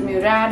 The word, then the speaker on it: Murad: character that's from murad i tend to call it murad sometimes because that's just the usual pronunciation like sahel gurad but i realized that the brand calls it murad i attended their virtual